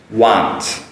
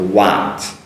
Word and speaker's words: want: Want. Now, this one, especially the wa, is a strong ah sound. So want, want.